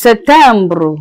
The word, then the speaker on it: September: September is Septembre.